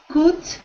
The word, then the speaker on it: could: Could. So instead of it sounding like could, like an oo sound, I want it to sound like an could.